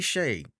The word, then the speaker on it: Schae: it but I'm like it gotta be Shay without the C you know but I